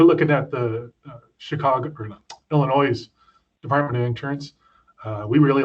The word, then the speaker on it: Illinois: And Gary, the S is silent as a native Chicagoan, so it's Illinois.